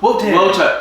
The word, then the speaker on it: Wotan: Wotan. Wotan. Because it was the W like a V, so Wotan.